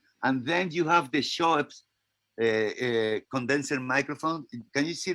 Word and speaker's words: Schoeps: And then you have the Schoeps condenser microphone. Can you see the Schoeps? Yep, we can see them all. And are you saying Shore or what? What? Schoeps. Schweppes?